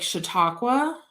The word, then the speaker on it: Chautauqua: you can go up these other streets like Chautauqua that is how you say that I know